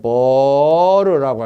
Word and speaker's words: burr: 거스름인데 영어로는 BURR, 버르라고 합니다. 심지어는 발음을 그냥 버리요? 버리라고 깎아서 버르, BURR, 버르라고도 사용하는데 그걸 제거하는 걸 리밍 작업이라고 그래요.